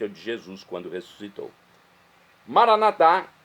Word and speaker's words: Maranatá: Maranatá é do dialeto de Jesus, o aramaico, pronúncia que nós falamos, nós católicos. Maranata é a pronúncia dos nossos irmãos das comunidades evangélicas ou protestantes, nossos irmãos separados, que se separaram da Igreja Católica. Mas não importa a pronúncia, o significado é o mesmo, é a parousia.